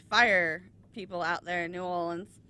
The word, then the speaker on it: New Orleans: great because they follow cops and ambulances and fire people out there in New Orleans. Nolans. God, please don't say that. Say it right.